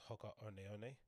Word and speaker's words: Hoka One One: I think they're called, pronounced Hoka One One, and I didn't know what model to go